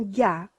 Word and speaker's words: gars: Tout d'abord, quand on parle des garçons, des jeunes hommes, et on dit le mot un gars, ça se prononce comme ça, un gars, parce que autrement, cela risque de devenir le mot vulgaire.